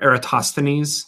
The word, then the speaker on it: Eratosthenes: called the the save of aratus things or Eratosthenes there we go that's how you say it civil Eratosthenes does they pronounce it anyway that's getting into a little